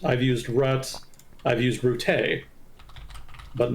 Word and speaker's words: Rutte: Rutte, okay. Let's go with that. I've used Rut, I've used Rutts, I've used Rutte.